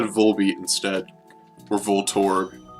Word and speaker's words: Voltorb: many people pronounce it Voltorb like as in Vol and torb well its name is actually just volt and orb so we should be pronouncing it volt orb or Voltorb not inside